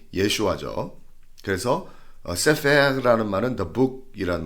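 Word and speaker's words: ישוע: 여호수아의 히브리 발음이 예슈아죠.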